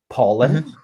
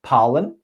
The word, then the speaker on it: pollen: i picked up on for example pollen you said palin parlant paul or okay and you said